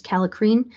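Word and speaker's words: kallikrein: uncontrolled production of the I believe the spelling or the pronunciation is calicrine which then goes on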